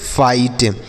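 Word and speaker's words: fight: फाइट। F से फा हो गया, आई से आई लिखेंगे और GST को टा पढ़ना है, GHT को टा पढ़ना है, GS साइलेंट रहेगा, तो इसे हम पढ़ेंगे फाइट।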